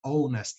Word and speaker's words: honest: Começa com som de... Começa com a letra H, mas but actually it sounds like a vowel. Porque o H é mudo nesse caso.